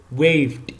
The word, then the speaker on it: waved: Okay, the ed end is not pronounced as an extra syllable.